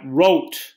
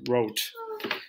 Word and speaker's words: rot: you ready we've got rote wrote spelled r-o-t avoid saying rot it's pronounced wrote here havam veer blau